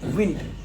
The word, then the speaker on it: weaned: Shirley, W-E-A-N-E-D, win. Ya, kayak bacanya begitu.